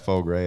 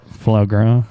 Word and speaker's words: foie gras: That Faux Gras at Otto's. Faux Gras or whatever it's called. I don't know how to say it right. I'll call it foie gras. Yeah. Foie gras.